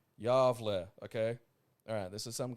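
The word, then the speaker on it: Gävle: your attention to the, Gavelboken, or Gavel goat, pronounced Yavle, okay?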